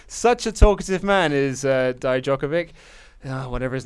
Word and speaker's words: Dijakovic: Then we got the in-ring debut of Dominik Dijakovic. Dijakovic, thank you. I've even written it out like phonetically, and I'm still getting it wrong.